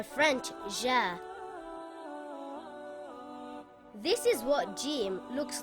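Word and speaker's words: جيم: this letter is called Jim it is a light letter and should not be pronounced heavy in English it sounds like the letter J in the word gem or the word jog it is not pronounced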